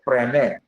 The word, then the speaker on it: Fresnel: That one is called Fresnel prism. That letter S is silent. Fresnel prism.